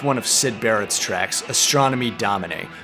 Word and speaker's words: Astronomy Domine: of sid barrett's tracks astronomy domine and yes that's the way roger waters pronounces it this is the opening